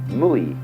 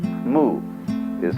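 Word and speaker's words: 無為: It's called in Chinese Wu Wei. Wu, non-way striving. In Japanese, Mui. I is Japanese for pronouncing the Chinese way. Mu is Chinese Wu.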